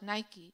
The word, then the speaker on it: Nike: The Nigerian fabric, the Adire, there's a gallerist and artist in Nigeria called, they call her Queen Nike, but it's spelled like Nike, Nike.